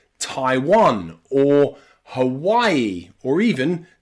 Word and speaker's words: Hawaii: names like Taiwan or Hawaii or even Thailand here the A and the I are pronounced I I Thailand Taiwan or Hawaii with that extra e on the end Hawai e practice with me Hawaii